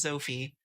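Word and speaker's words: Zoffy: cool after that uh zofi is just pronounced Sophie uh sets up zetan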